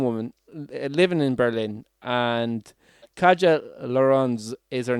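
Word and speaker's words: Katja: living in berlin and kajal lauren's is her name that's k-a-t-j-a so you can try to pronounce that as best used can but that's how i'm going to kaja so kaja is like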